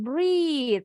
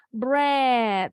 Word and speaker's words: bread: si panjang tapi beda kalau yang ini bacanya bukan brid tapi bread nah aneh kan bahasa Inggris sama-sama ea bunyinya bisa berbeda Oke Yang ini tadi